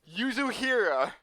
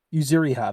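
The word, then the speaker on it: Yuzuriha: in our english mouths yuzu here i want to say that's wrong but i want to double check you zuriha that's how it's pronounced i might have typed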